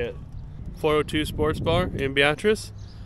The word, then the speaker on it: Beatrice: So here we are in Beatrice. Call it Beat Rice because it's spelled the same.